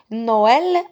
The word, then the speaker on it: Noël: Noël, remarquez, je prononce no, le o et le e tout seul. S'il n'y avait pas le tréma, je vais prononcer nul.